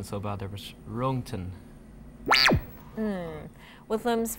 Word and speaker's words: Röntgen: The pronunciation is so bad there, but Röntgen.